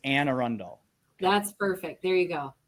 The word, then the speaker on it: Anne Arundel: It has been Anne Arundel. No. Anne Arundel. There, better. Is that right? I used to say Anna Arundel, but it's Anne Arundel.